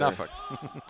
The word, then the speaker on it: Norfolk: No, like Norfolk, Virginia. Nobody says that either. Norfolk.